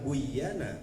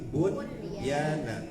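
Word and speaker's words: بُنْيَانًا: adalah id idgham ya harusnya mah dibacanya buyana tapi ada pengecualian maka ini jangan dibaca buyana tapi bunyana idgham bimakna izhar. Idgham tapi harus dibaca izhar. Izhar bunyana gitu ya.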